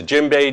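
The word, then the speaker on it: djembe: bay this drama is the gym bay drum it's spelled d-j-e-m-b-e like david jeremy dj not too many words start with dj and by definition if it's made from a jimbei wood tree and has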